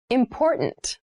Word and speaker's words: important: to consider carefully yes the pronunciation of this word that first t is actually reduced it sounds more like a d in fast speech water is important to